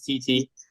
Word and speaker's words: Tetee: name is a tough one man it's been butchered all my life so uh the first name is real simple it's TT uh everybody just calls me and my